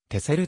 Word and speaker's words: Texel: と島があるつづりの中に x が使われているが発音は昔から ss でありてせると読む ss の号地として x を使用した名残である日本ではテク